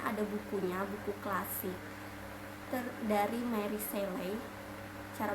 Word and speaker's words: Mary Shelley: Jadi Frankenstein itu sebenarnya ada bukunya, buku klasik dari Mary Seley. Cara bacanya gitu ya.